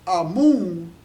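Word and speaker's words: Amun: because the brothers say Amen is often pronounced amoon right and that am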